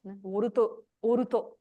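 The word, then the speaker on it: ウォルト: Mostly it will be seen in the names of people, like Walt, the English name Walt, Oruto. This is how they pronounce it in Japanese.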